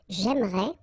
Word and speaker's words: j'aimerais: But then it's exactly the same thing, because even if you get this here and here, you don't pronounce it. So it will go like j'aimerais, or then j'aimerais. Remember, phonetically, they are the same, okay?